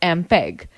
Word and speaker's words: MPEG: Students, note the fact MPEG, pronounced as MPEG, stands for Moving Picture Experts Group.